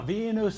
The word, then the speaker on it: Venus: stars just think people there's nothing difficult about the pronunciation of those two names Venus Serena no difficult sounds at all but still the commentators changed the names to Hungarian hybrids Michael J Fox drove